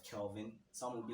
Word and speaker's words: Kelvin: know what's the word they pronounce my name wrongly by saying kevin like instead of kelvin someone would be like calvin kevin like you see